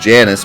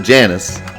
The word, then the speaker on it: Janus: game, it does not necessarily mean like I have to pronounce it the Latin way. It's in English, so I can pronounce it the English way if that's how they decided to pronounce it. I can pronounce it however I want anyways. It's a proper noun and no one says it out loud. So, sorry, but I want to pronounce it Janus.